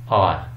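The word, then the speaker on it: hour: क्योंकि इसकी जो साउंड है वो एच इस प्रोनाउंस नहीं होता. एयर, ऑनर, आर. ठीक है, हावर नहीं कहेंगे, हॉनर नहीं कहेंगे, हेयर नहीं कहेंगे.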